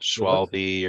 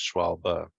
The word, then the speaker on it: Schwalbe: pronouncing it but this the german the e at the end is a kind of a sound so it's not schwalbe or schwalbe it's just schwalbe yeah all right yeah